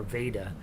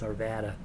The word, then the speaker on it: Arvada: like it says arva arvada or veda it's arvada and you always tell when they hire a new uh newscaster on from from one of the other towns they don't tell them how to pronounce it and so they get on there and their first first uh broadcast is a news anchor they're like in r varvata they always say arvada don is in from